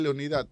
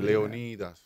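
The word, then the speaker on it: Leónidas: al presidente Trujillo Rafael Leonidas diga Rafael Leonidas Trujillo con más respeto Rafael Leonidas Trujillo m Leonidas no leonid Dónde está Dónde está el acento en la o yo conozco un viejo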